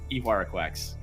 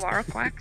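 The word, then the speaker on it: Ihuarraquax: Anyways, but it is in fact Ihuaraquax. Funny enough, the reason because I couldn't pronounce that card for so long, I did call it unicorn ass. That's all I called it for. Perfect. Ihuaraquax.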